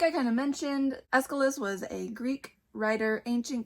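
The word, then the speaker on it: Aeschylus: told it it's pronounced Escilis, which makes sense when you think about it. If you know anything about the pronunciation of Greek names, the ch sounds like a C sound, but I had never thought of it before.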